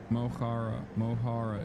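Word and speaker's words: Mo Chara: Mohara is how you pronounce it.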